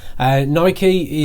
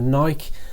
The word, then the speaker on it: Nike: for Apple and Nike Nike is the American pronunciation of naik I prefer to say naik and I know I've